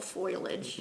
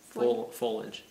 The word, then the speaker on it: foliage: love this one it reminds me of fall foilage yeah it's just so pretty foilage foliage folage I would never spell it I know you pronounce things so you